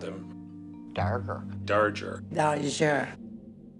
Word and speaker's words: Darger: well his name Henry dger we all called him Henry dger no it was Henry darger we pronounced his name Henry darger Henry darger Henry darer